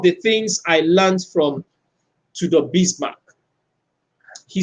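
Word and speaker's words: Tudor Bismark: youtube to the bismarck so the bismarck is spelled t-u-d-o-r that's two-door bismarck he's from to the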